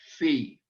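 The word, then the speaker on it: phi: a line through it fee our f sound p h i fee and maybe it helps to remember the dog that the dog's name i always do fifi i used to hear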